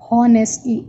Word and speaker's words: honestly: We never say honestly. H is silent, so we say honestly.